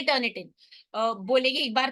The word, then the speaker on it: Turnitin: focus करर है ये एक सॉफ्टवेयर आता है टर्न इट इन ठीक है उसकी स्पेलिंग क्या है उसको हम बहुत मिस प्रोनाउंस